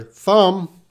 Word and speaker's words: thumb: But in this word, thump, we do have a P sound. Thump, thump. But when we're talking about your thumb, that B is silent.